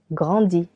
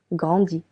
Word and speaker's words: grandis: Je grandis. S. Je grandis. Tu grandis. I tu grandis. Again, letter S is silent for both.